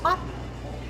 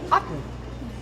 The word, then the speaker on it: Aughton: It's spelled Aughton, and so people would say to me, "Where are you going to perform?" And I would say, "Otten," and they'd go, "Where?" And I'd say, "Otten, Otten."